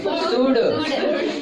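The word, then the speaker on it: should: है कुड और देखो इसको क्या पढ़ते हैं शुड इसको क्या पढ़ते हैं उड तो कहीं एल का उच्चारण ला में आ रहा है क्या सर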